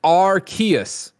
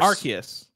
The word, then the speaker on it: Arceus: oh my god that pr guy says it's archaeous so it doesn't sound like art arceus even though we really like calling it arceus you you guys gotta